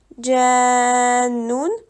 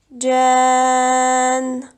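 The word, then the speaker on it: جانّ: arrêt après ce mot tu ne dois donc pas lire le un à la fin du mot au lieu de dire janoun on dit tout simplement Jan voici ma maintenant un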